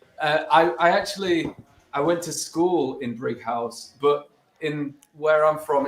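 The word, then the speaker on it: Brighouse: Well, no, see, But it's Brig. Brighton, I understand, but yeah, it's Brig House. Is there an H? Oh, Yeah. It's the H Right. in house. Oh, Fred.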